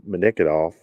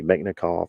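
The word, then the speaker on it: Mechnikov: is the ii uh manikidov um anti-plague scientific research institute i know i butchered that name megnikov excuse me meknikov antiplague scientific research institute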